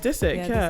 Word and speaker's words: Disick: It's just Disick, Disick.